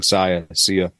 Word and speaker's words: Sia: I always say her name wrong. Sia.